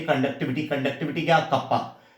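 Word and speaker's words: kappa: Pronounce कैसे करते हैं? कप्पा।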